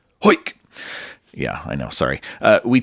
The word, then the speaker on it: Heuck: His last name is spelled Heuck, and to help me remember how to pronounce it, I think, what would a Cockney quarterback say? Heuck!